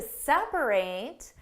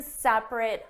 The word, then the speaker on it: separate: My parents are going to separate and live in separate homes. The verb separate means to divide into parts. Separate.